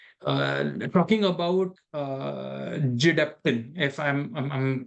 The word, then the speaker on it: Gedeptin: And some advertising person came up with the concept that if you phonetically try to pronounce that, it's Gedeptin, so we call it Gedeptin.